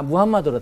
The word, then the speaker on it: 무함마드: 그 바위들 있는데이 이슬람 교도들은 이슬람 교도들은 거기서 무함마드 마 어 무함마드 근데 무함마드가 방금 말씀하신 마오메이 거야 아 그래요 그것도 이제 어이 무함마드 하는 것 원칙이에요 요즘에 우리 책들도 다 무함마드를 다 나와요 사진 같은데 보면은 아주 익수가 이게